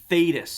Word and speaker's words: Thaddeus: So the correct pronunciation is Thaddeus. Thaddeus. Yeah. Thaddeus. Th- Which It we made it 3 syllables.